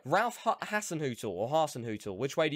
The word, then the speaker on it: Hasenhüttl: Okay, I better pronounce this right. Ralph Hasenhüttl or Hasenhüttl, which way do you say it?